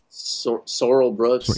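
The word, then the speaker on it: Sorrell Booke: Sorel Sor Sorel Brooks. Sorrel Brooks.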